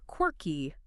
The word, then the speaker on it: quirky: Key W E Key And the stress is heavy on that first syllable. Q I R Key. Say it with us right now, wherever you're listening. Quirky.